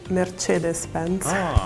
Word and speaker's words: Mercedes-Benz: In Germany, we say Mercedes-Benz. In English, we say Mercedes-Benz. In Sweden, we say Mercedes-Benz. In Spain, we say MercedesBenz. In Italian, we say merced Benz.